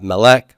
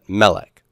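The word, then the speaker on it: מֶלֶךְ: stress unless marked otherwise and this is a first syllable stress word so not Malec but Melek Melek Eretz has first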